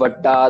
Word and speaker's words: वड्डा: Next, वड्डा दाता तिल न तमाए। पहला चीज वड्डा कहना है, प्रेशर देना है इसको। वड्डा नहीं कह देना, वड्डा।